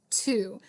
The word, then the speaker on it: two: what it looks like that W is silent it's two but I know when